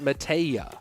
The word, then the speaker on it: Mateja: But, Mateja is pronounced Mateja. Mateja. Am I pronouncing the "h" too hard?